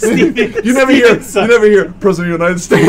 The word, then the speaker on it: Segel: Yeah, they were even the Jason Segel movie. I felt like just No, I feel like nobody talks. It's just kind of... What? Isn't it Jason Segel? Segel. Yeah. Segel? Jason Segel. It's Segel.